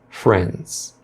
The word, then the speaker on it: friends: Na palavra friends, a pronúncia do D vai ser bem sutil, às vezes até suprimida, passando direto do som do N para o S. Friends, friends.